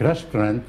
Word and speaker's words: restaurant: and they're the same ent and a and t is pronounced ang at the end like restaurant would be restaurant we do not sound the t so again what is